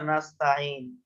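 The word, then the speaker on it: نستعين: নুন পেশ নু নাসতা নাস্তাইন নাসতা এখানেও আইনে উচ্চারণে সমস্যা হয় আমাদের তাই তাঈ তাঈ আইন তাঈন তাই না হ্যাঁ আইনে একটু জোর দিয়ে উচ্চারণ করতে হবে সাত দিয়ে আইন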